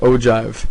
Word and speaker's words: ogive: That's how it's pronounced, ogive. It's a good, nice, fun word.